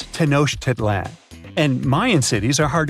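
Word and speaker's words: Tenochtitlan: It's Tenoshit Titlan. And Mayan cities are hard to pronounce, too.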